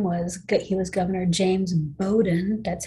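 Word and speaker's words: James Bowdoin: in this gentleman's name was he was governor james bowden that's how you pronounce that it's a weird looking name i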